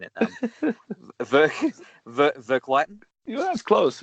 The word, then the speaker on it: Verkligheten: Verklighten. Yeah, that's close. Verkligheten.